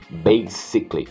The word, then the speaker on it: basically: Não tem som de Z, não é base, é sickly. Sickly. Basically.